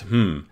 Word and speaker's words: hmm: linked on Hacker News it's called hmm it's actually pronounced hmm and I came to